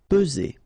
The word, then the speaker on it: peser: Peser. Okay, remember first E, P, and then Z. Only one S here between the two. Peser.